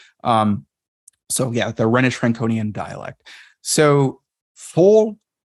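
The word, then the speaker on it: Phol: So full. The reason why I believe it's pronounced as an F is because if you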